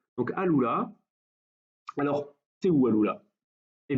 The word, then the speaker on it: Al-Ula: On est dans une ville et un oasis qui s'appelle Al-Ula, ou Al-Ula, mais je pense plutôt que le U se prononce OU dans la langue arabe. Donc Al-Ula.